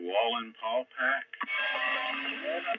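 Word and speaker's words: Wallenpaupack: Wallen paw pack. Mhm. How do you spell that?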